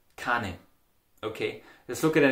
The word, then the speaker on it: keinen: Keinem, keinen is pronounced as kan.